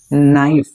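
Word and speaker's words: knife: नाइफ की spelling जो है वो के से स्टार्ट होती है यहां पर। ठीक है? के एन आई एफ ई। लेकिन बोलते हैं सिर्फ नाइफ।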